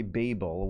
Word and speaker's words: Babel: we pronouncing the title the British say Babel which in my opinion sounds better than the americ bab Jamie Hopper this is